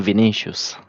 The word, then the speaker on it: Vinicius: Is pronounced Vinicius. It's I think it's a Brazilian footballer.